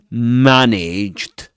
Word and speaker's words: managed: So you've got three words that contain the same a sound which is the same a sound you'll find in the word cat. Okay. So managed uh mechanic and garage right perfect.